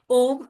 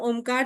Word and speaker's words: ओम: उन्होंने बताया हुआ है जब हम ओमकार ध्यान साधना करते हैं तो ओ का उच्चारण छोटा होता है मा का बड़ा होता है सूर्य नमस्कार में जब हम ओम का उच्चारण करेंगे तो ओ बड़ा रहेगा मा छोटा रहेगा तो इसका क्या रीजन